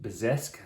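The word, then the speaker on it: bezique: and it's derived from i think it's pronounced bezesk which is be a z-i-q-u-e which is basically similar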